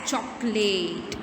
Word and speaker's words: chocolate: तो इसमें जो दूसरा जो ओ है उसमें ओ होने के बावजूद हम उसका साउंड जो है वो सुनते नहीं हैं. So here the second O is considered as silent.